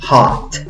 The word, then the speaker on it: hot: Se escribe con una O, pero la pronunciación no es con una O, es con una A gruesa. A. ¿Cómo pronuncias esta palabra? Hot.